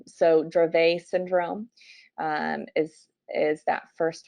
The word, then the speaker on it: Dravet: me at least to remember that a lot of these terms are French at least in my head there and that's how I know how to pronounce them so drove a syndrome is is that